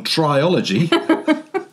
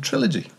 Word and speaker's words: trilogy: I'm delighted to introduce singing American Triology. It is, of course, American Trilogy. The concert chairman in Wakefield didn't know the word trilogy. Oh, that's so funny. Or maybe he did, but he'd always pronounced it triology.